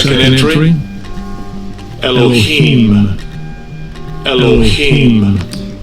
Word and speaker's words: Elohim: Elohim. Elohim. It's Third Alahayim. entry. Eloah. Eloah. Alright. So you heard it, but it's pronounced Alahayim.